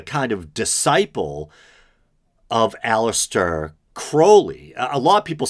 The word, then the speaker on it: Crowley: a version of it it is pronounced Crowley to remind you that I am holy but my enemies say Crowley and wish to treat me Fowley and I think I